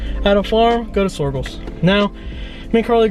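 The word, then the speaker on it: Soergel's: What is this farm called? Sorgels? Sorgels. I think is how you say it. Sorgels Farm. S-O-E-R-G-A-L. Sorgels. With an S at the end.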